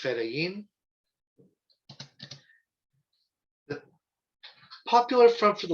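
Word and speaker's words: fedayeen: for those interested federian f-i-d-a post-free i-y-y-i-n pronounced pronounced ferayin the popular front for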